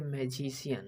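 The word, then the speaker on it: magician: ये मैजिशियन है। आई ए पे ध्यान देना है। मैजिशियन। सी का उच्चारण आ रहा है आई ए।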